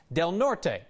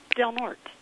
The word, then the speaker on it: Del Norte: I mispronounced del north Bruce insisted that the pronunciation is Del Norte well Bruce this is one that we already